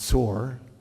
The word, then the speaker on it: Tyre: antiquity in tear or tyre which is actually pronounced sore in in the Phoenicians was switching over time